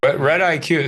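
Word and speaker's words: RedIQ: be a good one red IQ spell that out so I it's red like the color and then just IQ like your IQ test I would recommend that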